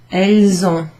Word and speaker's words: elles ont: Then the S, you make a liaison there, and it sounds a bit like a Z sound. Elles ont, similar to vous avez.